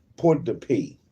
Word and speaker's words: Port-de-Paix: How you pronounce that? P-A-I-X. P. Port-de-Paix. That was correct.